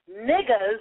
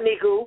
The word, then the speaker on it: negus: N-E-G-U-S is pronounced niggas, okay? It's not nigu. It's N-E-G-U-S.